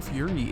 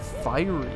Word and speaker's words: fiery: Why are you saying Fury? It's Fiery.